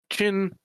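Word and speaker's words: Qin: Now, I've also played Fantasy Craft, Ironclaw, Marvel Heroic Roleplay, Chin, spelled with a Q, Savage Worlds, Shadowrun, Unknown Armies, Wild Talents, and other games, sometimes for a session or 2, sometimes for extended runs.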